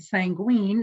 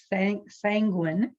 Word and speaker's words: sanguine: apologize for not pronouncing it correctly i said sanguine and the correct pronunciation is sand sanguine and i lost count i had like eight